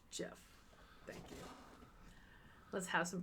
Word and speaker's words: GIF: Actually, it's pronounced Jeff.